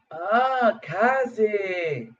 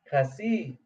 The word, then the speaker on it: casi: Kazi. Ah, Kasi. I've been saying it wrong.